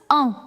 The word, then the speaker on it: en: Now, N, you are not going to pronounce. So, it is a little nasal sound.